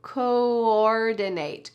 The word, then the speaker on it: coordinate: To coordinate. Coordinate. There are 2 O's and they are slightly pronounced differently.